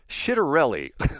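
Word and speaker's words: Ciattarelli: You pronounce it as soft C. So it's Shitterelli.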